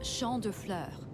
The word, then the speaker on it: Champ de Fleurs: Champs de Floors? How do you say that? It's Champ de Fleurs.